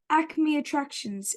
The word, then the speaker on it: Acme Attractions: you ran a clothing store called am I pronouncing this right Acme attractions is that absolutely right y perfect and so